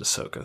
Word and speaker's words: Ahsoka: uh yeah on Clone Wars uh yeah Anakin pronounces it ahsoka so yeah so she's rumored to be in